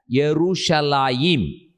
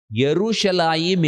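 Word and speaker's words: ירושלים: ஆனால் in Hebrew language you have to pronounce it as Yerushalayim. Yerushalayim is Hebrew, Jerusalem is English, then again Jerusalem என்பது தமிழ்.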